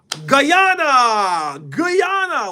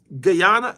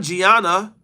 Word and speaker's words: Guyana: Not Ghana, Toph. Guyana. Blood could have just said it. That's what I said. No, not Gianna. Not Ghana.